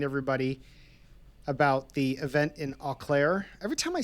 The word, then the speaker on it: Eau Claire: Eau Claire? Like just just like the letter O? Okay. So, Eau Claire, Wisconsin.